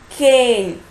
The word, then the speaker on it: cane: There is no sound for this vowel e. So k, a, n, cane.